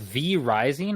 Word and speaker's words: V Rising: is interesting it's called V rising or five Rising depending on how you look at it but uh V it looks like V Rising I believe is how it's pronounced and it's a fantasy